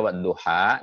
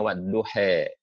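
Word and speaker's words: والضحى: Aljazair Libya sebagian itu kalau membaca wadduha dia tidak lebih kuat tapi bilangnya wadduhe wadduhe wallaili idza saja Mawaddah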